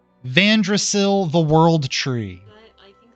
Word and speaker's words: Vandrasil: Vandrasil, the World Tree. I think I just captioned tree with tree. And Vandrasil is spelled Vandrasil.